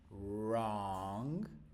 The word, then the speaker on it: wrong: So real train wrong. Right. Again, this is another little rule here that we can talk about. Wr of course, but but the W is silent.